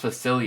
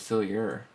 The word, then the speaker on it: Facilier: Dr fac fa it's is it pronounced facil I thought it was facilier it's facil Dr facil huh so he